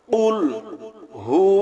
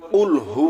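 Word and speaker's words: قُل: কফ গলার ভিতর থেকে কফ গলার ভিতর থেকে উচ্চারণ হবে একটা হলো কফ আরেকটা আছে কাফ এখানে আমরা যদি সঠিক উচ্চারণ করি কুলহু আল্লাহু আহাদ তাহলে সঠিক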